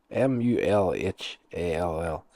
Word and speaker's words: Mulhall: Uh Dr. Ann Mulhall, m u h m u l h a l l. Mulhall, that's yeah, that's the way it's said.